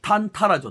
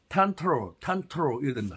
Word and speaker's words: tantara: 영어 발음이 어떻게 되세요 그걸 그대로 읽어 버리면 탄탄하죠 탄탄하 자 다시 한번 영어 정확한 발음을 빠른 기호로 하면 텐트로 텐트로 텐트로 그러면 이걸 가지고 우리가